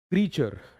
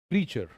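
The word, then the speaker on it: creature: congratulations congratulations to यू क्रिएचर नॉट क्रिएचर हम क्या बोलते आए हैं क्रिएचर क्रिएचर is incorrect the word is क्रीचर क्रचर एंड क्रचर तीन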